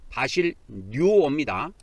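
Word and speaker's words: βασιλεύω: 이게 헬라어로 바실류어 좀 발음하기가 좀 쉽지가 않은데 바실 뉴어입니다.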